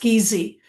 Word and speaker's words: Giese: Uh thank you and um just my last name is actually spelled uh pronounced Geezy.